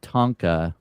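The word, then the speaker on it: tanka: Yeah, I wrote a Tonka, which is very similar to a haiku. It's a tonka track. No, no. T A N K A Tonka.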